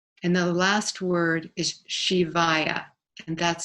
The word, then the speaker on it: Shivaya: get the nama and the last word is shivayya and that's spelled s listen Sam H is in Harry